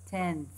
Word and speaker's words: tenth: The next example, tenth, tenth, n, and then the th sound.